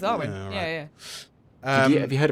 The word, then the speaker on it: Arwen: Is it Arwen or Airwin? Am I saying it wrong? Yeah, I think you're right. No, I think you got I it. think it's Arwen.